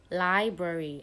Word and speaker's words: library: People usually go by saying library or like library, but it's not said like that way. So the spelling is LIBRARY. So it has two syllables. When you have to divide it into two, we have the lib and the rary. Do you get it? So the A sound is usually a weak sound.